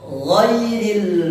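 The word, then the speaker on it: غير: ghairil magdubi alaihim wadin pengucapan huruf g. Nah, ini sering kita temui di kalangan teman-teman, terutama di kalangan masyarakat itu ketika mengucapkan huruf gitu ghairil magdu. Nah, ghairil magdu bukan huruf g tapi ghairil magdu bukan ghairil magdu.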